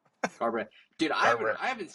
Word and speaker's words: Garbrandt: Uh Cody Cody Garbrandt What How do you say his name? Garbrandt? Garbrandt.